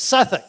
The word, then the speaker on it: Southwark: Well, of course, that's not how the English pronounce it. It's Suffolk.